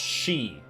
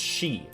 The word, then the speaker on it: Sidhe: Isn't that pronounced like she female or is it she? Hold on a sec. God, I remember hearing this word in Dresden Files. Um, pronounced she. Gaelic folklore, the fairy folk of Ireland. It's she.